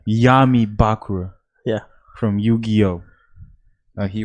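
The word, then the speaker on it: Bakura: so I am uh uh bakra right yeah am I pronouncing right you're more yeah yeah that's right that's right Yami bakra yeah from Yu-Gi-Oh uh he wears the millennium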